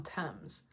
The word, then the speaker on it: Thames: Rachel Chinouriri from Kingston upon Thames. I used to think that Thames was pronounced Thames.